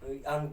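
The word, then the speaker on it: ङ: अंगा भी बोलते हैं, अड़ा भी बोलते हैं, है ना। ऐसा नॉर्मली इसको अड़ा लोग बोलते हैं, लेकिन मुख्य इसका भाषा उच्चारण अंगा है। उच्चारण इसका मुख्य क्या, अंगा, अड़ा नहीं, हम तो अड़ा ही बोलते हैं, गलत नहीं होता है।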